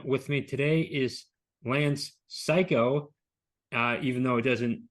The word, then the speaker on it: Cayko: with me today is Lance psycho uh even though it doesn't appear that way it uh that's how it's pronounced as I am told Lance how are